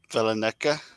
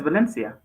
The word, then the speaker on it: Valencia: rocking there my friend I can never say it right but Valena Valencia is it Valencia yeah it's Valencia yeah it's Valencia see